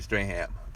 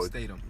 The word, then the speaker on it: Statham: is a spinoff with The Rock and Jason Strahan. So Statham. Statham. That's how you say it? Statham? Yeah, Jason Statham. I've been pronouncing this man's name wrong for years.